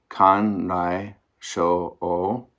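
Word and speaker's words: かんらいしょおう: Now let's hear it pronounced. First, Korean. Han-rei so-wang, Japanese. Kan-rai sho-o.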